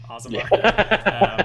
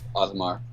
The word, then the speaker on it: Osmar: I've heard some people say it as Ozamir, which is that sounds more angelic than Ozamar. But I'm from the Midwest and the South, so I say Ozamar. Asmar. I've only ever heard it as Osmar. That's how it's said in this world.